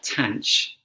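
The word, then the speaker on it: tanh: a hyperbolic tan function no one says hyperbolic tan or tan hyperbolic even worse you either say uh tanch or fan um then you've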